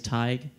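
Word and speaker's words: Tadhg: My name's Tig. Tig. You can try to spell it. It's spelled T-A-D-G-H. Oh. So that's old Irish.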